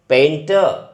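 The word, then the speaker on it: painter: पेंटर, र जो है सब में पीछे जो है अपने साइलेंट रखना है, पेंटर।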